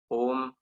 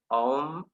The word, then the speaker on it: Om: flow remedies and co-founded home and Healing Temple consultations I would like to uh pronounce that again om and Healing Temple consultations she turned vegan